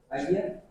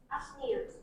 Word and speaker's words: Agnia: Agia? Actually, it's Agnia.